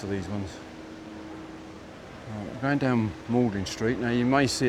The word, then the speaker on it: Magdalene: these ones going down Molding Street now you may see it says Magdalene Street but it's actually pronounced Moldlin in another one of those weird English words where you've got silent letters in it.